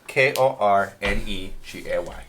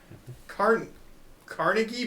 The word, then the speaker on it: Kornegay: That's Kornegay. He's got to spell it for fucking everyone. N-E-G-A-Y. He knows half of us don't even know letters. Carnegie, but spelled wrong?